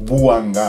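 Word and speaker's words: Buhanga: Son nom s'écrit B-U-H-A-N-G-A. Donc Bouanga avec un H.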